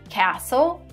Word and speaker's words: castle: in my backyard soften here we have a silent tea the same thing happens in a word castle and asthma here by